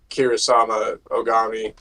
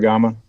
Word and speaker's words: Kusarigama: like I would use the Kirasama Ogami. That's how you say it. Kusarigama.